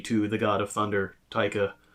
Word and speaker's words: Taika: But Thor Ragnarok, he also directed, and Thor Thunder, God of Thunder, funny to the God of Thunder, Taika. It also rhymes with Laika and Riker, kinda.